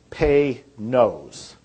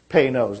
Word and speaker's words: Panoz: that car, which is Panoz, P-A-N-O-Z, is actually a clearing device name. And it's pronounced, if you want to pronounce it right, it's Pay-Nose. Pay-Nose, like P-A-Y. And then N-O-S-E. Pay-Nose is how you would pronounce that.